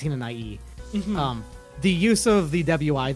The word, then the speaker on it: Hinanawi: So, Tenchi Hinanai, that is pronounced just E at the end. It's not Hinanawi, it's Hinanai.